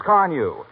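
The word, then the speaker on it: Carnu: Give it the extra care it needs with Johnson's Carnew.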